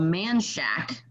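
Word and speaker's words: Manchaca: austin that was called manshack okay but it is spelled m-a-n-c-h-a-c-a like manchaka but for whatever reason they call it manshack like where did you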